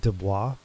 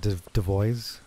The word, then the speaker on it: Dubois: sounded close to like what people mispronounce Dubois, and they call it Devois.